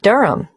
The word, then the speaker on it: Durham: at one uronga Street Durham how do you spell Durham d-u-r-h-a-m of course I should know that but it's just one of those names that sounds quite different from the way you spell it it is confusing I've